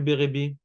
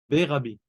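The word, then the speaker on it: Berebi: En réalité, si on veut prononcer correctement, on dit Bérabi. Comme si on dirait Rabbi Shimon, Bar Rabbi. Bar Rabbi. C'est pour ça qu'il y a deux R dans Bérébi.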